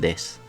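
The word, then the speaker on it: です: Lo mismo pasa aquí con el des, ¿vale? La u del final tiende a omitirse.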